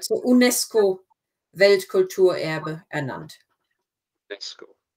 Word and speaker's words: UNESCO: 1996 wurden 4 Gebäude in Wittenberg zum, we pronounce it as if it was a German word, so UNESCO Weltkulturerbe ernannt. UNESCO.